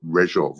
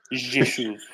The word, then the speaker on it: Rzeszów: Now, only you, Damon, could pronounce the name of the place there. What is it? Rezhov or something? Rzeszów.